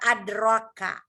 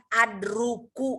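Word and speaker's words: أدرك: Ini kan saya bacanya juga adraka. Bukan adruku atau adraku.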